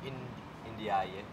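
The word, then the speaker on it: Ndiaye: Pero pao ba i-pronounce yung name NJ? Paano ba? Indaye.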